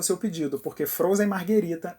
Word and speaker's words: Margherita: eu trabalhei em restaurante é fundamental saber a diferença de má o e Margarita Marguerita é a pizza que leva mussarela tomate e manjericão e tem as cores da bandeira da Itália ela ganhou esse nome em homenagem à rainha Margherita de Sabóia Margarita é o coquetel